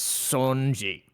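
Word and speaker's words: Songi: this Feud with and I'm always gonna get his name wrong pronunciation Wise It's Sanji Sanji yeah because I always do the Son part I don't know why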